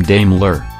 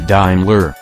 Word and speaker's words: Daimler: may not even know how to pronounce the name damler like Dame medna not diimler like the Mercedes brand parent though it traces back